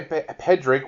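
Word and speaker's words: Pádraic: the character that Colin Farrell plays is it Patrick yeah I would say pedrick which is the way that they pronounced it through most of the film but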